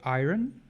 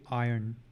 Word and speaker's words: iron: pronounce this word incorrectly we try to say iron but it's actually iron where the r is a bit silent just letting you guys